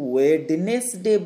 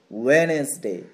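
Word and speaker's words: Wednesday: দেখো, এটাকে আমরা বলবো না কিন্তু ওয়েডনেসডে বলবো না, আমরা এই ডি এর উচ্চারণটা করবো না, আমরা বলবো ওয়েনেসডে, অর্থাৎ ডিটা যেন নেই, আমরা বলবো ওয়েনেসডে।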